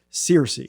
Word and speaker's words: Searcy: guys this is how do you pronounce your last name seriously seriously okay I didn't want to